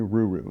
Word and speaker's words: Ruru: So Kenya Ruru is how I've learned how to pronounce it.